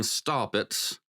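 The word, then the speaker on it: Staupitz: he had a a mentor named Johan Von stopit and s t a u p i TZ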